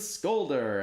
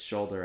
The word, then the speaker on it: Scholder: like first of all the guy pronounced my name wrong you know and he's like scolder and I got up there up like its shoulder actually and everybody laughed and